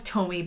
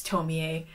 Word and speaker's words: Tomie: I just finished reading Tomie, which I thought was Tomie, but it's Tomie.